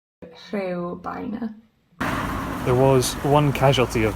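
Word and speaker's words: Rhiwbina: It's a real My Welsh pronunciation might not be great, but that's Ribena Station. Not Ribena, Rhywbeina. Rhywbeina.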